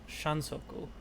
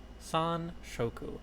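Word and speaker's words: sanshoku: How to get Shansoku. San Shoku. I said it wrong.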